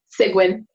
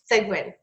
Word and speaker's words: Seguin: I'm here with segment and my pronouncing your last name right close enough how do you pronounce it cygwin cygwin okay and she has